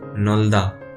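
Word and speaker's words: 넓다: तो हम क्या करेंगे, पीछे वाले जो कॉन्सोनेंट को ड्रॉप कर देंगे, साइलेंट कर देंगे, और हम क्या पढ़ेंगे, सिर्फ रियल पढ़ेंगे। तो क्या हो जाएगा, ये नोल्दा।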